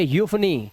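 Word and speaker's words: euphony: ठीक है अब चलो जब किसी वर्ड में इ यू आ जाए तो इयू का उच्चारण क्या करना है अब देखो इयू का उच्चारण क्या कर रहे हो आप यू कर रहे हो इसलिए इसे पढ़ेंगे यूफोनी क्या पढ़ेंगे यूफोनी यूरोप यूलॉजी एंड यूफोनियम क्या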